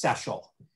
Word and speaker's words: Szczesiul: I'm used to, I'm not at all particular to tell you the truth, but the way our family says it is phonetically like special without the P. So just Szczesiul.